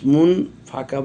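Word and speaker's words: منفك: বানানোর সময় কিন্তু মিম নুন পেশ মুন বলেছি, কেননা উচ্চারণের সময় এটাকে একফা পড়বো, কারণ নুন সাকিনের পর ফা এসেছে, ইকফার হরফ, এই জন্য আমরা গুন্না করেছি।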